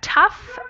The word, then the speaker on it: tough: notes on pronunciation here these Oh ugh words are actually they sound like they're they end in an F so that's tough enough and rough and then this family